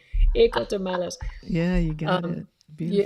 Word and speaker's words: Ecotermales: I say ecothermals. That's English, but it doesn't sound right. Ecotermales.